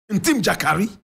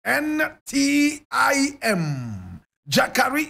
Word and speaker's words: Ntim Gyakari: Ntim Gyakari. And Ntim is spelled N-T-I-M. Gyakari is G-Y-A-K-A-R-I.